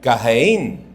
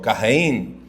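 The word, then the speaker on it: קַיִן: Caín es del hebreo Cajeín. Así se así en el hebreo así se pronuncia. No lo pronuncié muy bien, obviamente va no tengo el acento de ellos, pero Cajeín.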